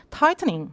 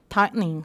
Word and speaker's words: tightening: 영국 발음은 약간 T 발음이 더 세게 나와요. 그러니까 tightening. 미국 발음은 tightening 하면 되겠죠.